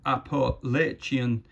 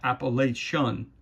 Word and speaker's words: Appalachian: And it's pronounced Appalachian, not Appalachian.